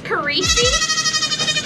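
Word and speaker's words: Kirisi: Oh my goodness, this is Carisi, and it's spelled K-I-R-I-S-I, and it stands for frost in Finnish.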